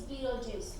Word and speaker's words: Betelgeuse: Is it Betelgeuse? Actually, it's Beetlejuice.